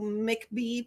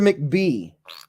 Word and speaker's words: McBee: show me the Spyderco McBee please Spyderco McBee yeah uh what's the McBee I don't know do you have a Spyderco McBee how do you spell it CBE Mick like a McMuffin well that's a Chucky